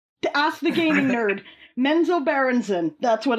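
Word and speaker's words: Menzoberranzan: early dungeons and dragons computer game titles like menzo branson is that how you pronounce that menzo mento berenson mentor baronson allen to ask the gaming nerd menzo berenson that's what it's called got it got it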